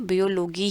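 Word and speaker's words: Biologie: तो आपको इसका अभी प्रोनाउंसिएशन पढ़ना भी बहुत ज़रूरी है कि मुझे इसको बियोलॉजी ही बोलना है, या इसको मुझे माथमाटिक बोलना है, मैथमेटिक्स नहीं, माथमाटिक। ओके, आगे बढ़ते हैं।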